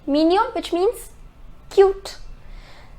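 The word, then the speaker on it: mignon: the next is Jian it is mininum the pronunciation is minion minion which means cute it's an adjective the next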